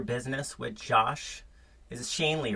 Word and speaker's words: Schoenly: and leverage your business with josh is it shane lee right it is you know what it's always people mispronounce it right shanley and it's shanely oh shonlee is a nice mispronunciation all right so shane